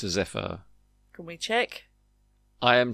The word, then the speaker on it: zephyr: I have studied a bit of poetry in my time, so I think it's a zephyr. It is a zephyr. Or zephyr. Zephyr, okay. Zephyr. Maybe it's a zephyr.